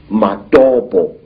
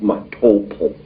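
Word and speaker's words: Matobo: place called the mountains of the round rocks madobo wrongly pronounced matopo in in zimbabwe these hills are really not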